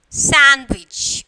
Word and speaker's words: sandwich: So when we are pronouncing the word, the D is silent. Okay, and some, handkerchief, and then sandwich. Okay, so we are not pronouncing the D.